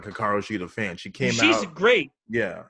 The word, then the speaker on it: Hikaru Shida: Hikaru Shida.